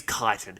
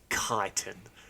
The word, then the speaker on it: chitin: It's chitin. People who say chitin, you need to be flogged with like they really hoses. Chit you off, do they? They really give me the chits. Yeah. I now pronounce it chitin.